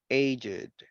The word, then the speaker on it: aged: Yes, en este caso lo vamos a pronunciar con esto, con it, aged, blessed, crooked, naked, wicked, and wretched. Con esto, con ed.